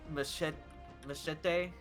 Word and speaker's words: Machette: And apparently someone in chat did respond to me asking how do you pronounce Machette. And people have said Machete. Machete is the way that I have been pronouncing it.